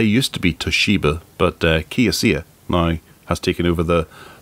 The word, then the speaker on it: Kioxia: Do you want to have a go at pronouncing Kioxia. This? Or it could we'll be Kioxia, because Xiaomi is CIA, so it could be Kioxia. Kioxia.